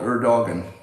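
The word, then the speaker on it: Erdoğan: If you spell your name E-R-D-O-G-A-N, you should be called Erdogan. And if you say people know, the pronunciation is Erdogan.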